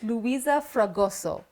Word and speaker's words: Luisa Fragoso: Luisa Fragoso.